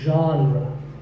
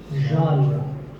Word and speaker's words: genre: The correct pronunciation is genre. Pay attention to the first sound. It's like sh, but you have to put your voice into it. Genre. Genre.